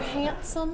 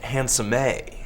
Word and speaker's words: Handsome: Mr. Handsome, is it? It's actually pronounced Handsome-A.